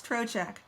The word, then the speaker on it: Trocheck: take my husband's name which is hard for southerners to pronounce it's troch so I would go to